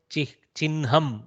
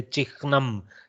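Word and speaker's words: चिह्नम्: I have told you when there is a hakara with a nakara inside, rikara inside, sometimes we attack the nakara first and then pronounce the hakara. So chinnham is how we pronounce it. We don't struggle to say chikhnam. Chikhnam is a tongue twister. In Sanskritam, we take the reversal of the pronunciation order.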